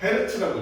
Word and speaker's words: Hz: Hz. 헤르츠라고 읽어.